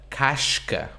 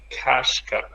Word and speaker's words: casca: A casca. A kashka. Right? Casca has two syllables. That one's at the end. So that's why it's a sh. Right?